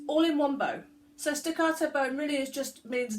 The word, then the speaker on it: staccato: doing stack at all you've got to say it like you're in Italian and with lots of passion and hand movements back out door so we're going to do staccato staccato that's the posh